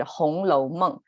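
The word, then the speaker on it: 红楼梦: the red chamber in chinese we call it hong lo mung hong is actually the word red and lo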